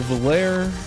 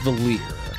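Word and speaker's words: Valere: But her name is actually pronounced Valir, which in hindsight, you know, makes sense.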